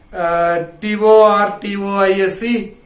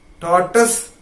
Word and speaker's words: tortoise: T-O-R-T-O-I-S-E, it is not pronounced as tortoise, it is not tortoise, it is tortoise.